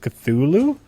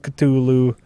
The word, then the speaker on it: Cthulhu: Do you guys say Cthulhu or Cthulhu? Cthulhu. I say Cthulhu too. That's what it is, right? I've heard two people separate from each other while discussing it call it Cthulhu. I've always heard it called Cthulhu. And it is TH.